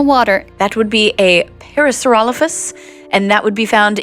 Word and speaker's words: Parasaurolophus: even, Can dare we- I say, beautiful pronunciation. Yeah, can we hear that Thank one more you. time? What was that? Parasaurolophus.